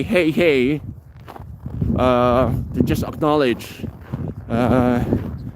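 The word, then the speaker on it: hej: say here hello hello hey hey you have to say it twice it's spelled in English H E J and then you have to say it twice hey uh or Shena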